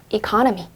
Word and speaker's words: economy: 이거 economy란 단어 발음하실 때 강세에 주의하셔야 해요. 이거는 강세가 여기 들어가요. economy 이렇게요.